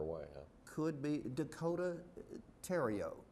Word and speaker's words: Theriot: could be Dakota Theriot, T-H-E-R-I-O-T, but the pronunciation of French, Theriot, not Theriot.